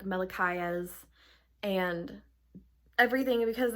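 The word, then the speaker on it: Malachiasz: cannot speak um because I think I called him like Mikes or something I'm like no it's me it's mikayas and I was like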